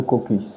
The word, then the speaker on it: caucus: Vous avez été également vice-président du COCU Gabon, c'est comme ça que ça se prononce. Le caucus. Le caucus Gabon, pour la